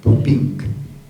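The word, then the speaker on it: Puppinck: Gregor se escribe, es Gregor Pupink, P-U-P-P-I-N-C-K.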